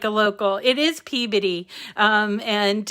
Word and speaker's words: Peabody: It is Peabody. And it's funny, everybody has a problem pronouncing it, and that's how we know that they're not local, right?